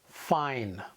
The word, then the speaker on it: fine: vowel, consonant, silent E, we know that the letter I here must be pronounced as a long vowel, fine.